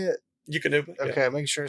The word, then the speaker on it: Eukanuba: Eukanuba. Okay, making sure I say that correct. And it's like, got him up there as a team member, you pretty all right. It's Akanaba.